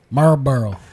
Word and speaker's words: Marlboro: Like, do you don't go like Marlb Miles, It's Marlboro, I would do the L. Marlboro.